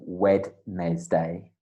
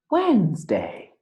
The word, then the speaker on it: Wednesday: of reviewing that because it doesn't sound like wed nez day no it sounds like wednesday it is spelt like that but it sounds like when like when wednesday yeah wednesday wednesday wednesday